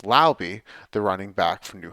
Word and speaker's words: Laube: Dylan Laube, who I now realize should be pronounced Laube, the running back from New Hampshire.